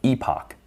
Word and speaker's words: epoch: We continue doing that for all of the samples in our training set, which is known as one epic or epoch. You'll come across both pronunciations.